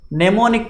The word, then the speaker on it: mnemonic: Next, mnemonic codes. M is silent.